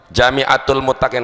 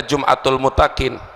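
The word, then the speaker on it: جامعة المتقين: Jami'atul Muttaqin itu perlu diluruskan, Jami'atul Muttaqin. Kalau itu bacanya Jum'atul Muttaqin, jim isim fa'il, fahuwa jami'un, jami'un fahuwa jami'un, mu'annas Jami'atul Muttaqin, tempat mengumpulkan orang-orang yang bertakwa.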